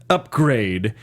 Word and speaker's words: Upgrayedd: Okay, so Upgrade is her pimp, and his name is spelled UPGRAYEDD. Yep. Upgrade.